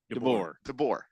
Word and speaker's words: DeBoer: DeBoer, I believe. DeBoer.